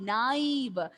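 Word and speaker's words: naïve: Then naive, A-E, naive.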